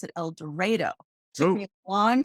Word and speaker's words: El Dorado: it sounds strange in el dorado they actually pronounce it el dorado it took me a long time to get